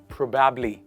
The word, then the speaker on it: probably: You put the stress on the first part of the word. And you say pro. You don't say proba. It is pro. Bubbly, obably, robably, probably. Not probably. It is probably.